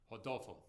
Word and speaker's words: Rodolfo: and I know that the r should be like an H Rodolfo so um did I